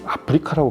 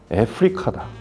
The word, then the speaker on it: Africa: 왜 너희 동양인들은 우리 대륙을 아프리카라고 발음을 하냐? 애프리카다. 이러면서 발음을 교정해 준 적이 있는데, 묘하게 아프리카라는 발음을 어색하게 생각하는 게 아프리카 사람들이더라고요. 그래서 정확한 발음은 애프리카라고 발음하는 게 맞는데 편하게 그냥 아프리카라고 얘기하겠습니다.